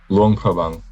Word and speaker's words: Luang Prabang: Luang Prabang.